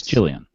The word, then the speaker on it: Gillian: It's Gillian.